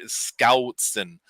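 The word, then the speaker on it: Schoutsen: He always tells me you got to pronounce my last name like there's a G after the S, and it's hard for me to do Scoutson. And he is the founder of Home Assistant.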